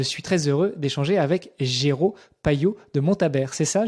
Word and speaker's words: Géraud: m'en dises plus sur ton prénom, Géraud, et non pas Jérôme. Ça s'écrit Géraud, G-E-R-A-U-D.